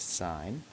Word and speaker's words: sin: button on your calculator you can only fit three letters on there so it just says s i n but it's pronounced sign um another ratio that